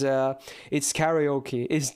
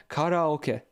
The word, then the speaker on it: karaoke: It's karaoke. That's like so far off from how it's pronounced, but everyone says it like that. You would normally have to say karaoke.